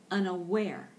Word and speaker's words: unaware: specific number seven is unaware unaware with the accent and the last syllable unaware unaware okay and